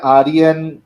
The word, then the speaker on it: Arian: रही है आ रही य कैसे प्रोनाउंस करते नाम एरियन आर्यन आर्यन आर्यन अ आर्यन नाम तो इंडिया में